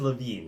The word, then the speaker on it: Levine: Oh, and by the way, Miss Levine, it is Levine, isn't it? Yes.